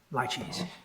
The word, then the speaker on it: laches: He introduced the equitable doctrine of laches by saying it's pronounced rather like it might be pronounced by a refined Chinese waiter, laches.